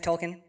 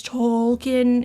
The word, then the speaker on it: Token: to my name plus everybody overly pronounces it as Tolen and honestly coming from